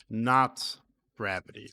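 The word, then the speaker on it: !gravity: line 46 here um not gravity that's how you would pronounce this okay so that's what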